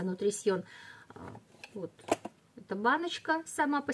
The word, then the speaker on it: Nutrition: Вот так он по-французски читается, Nutrition.